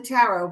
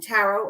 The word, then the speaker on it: tarot: And I have the tarot, but I reserve the tarot or tarot. Either way is appropriate to pronounce it.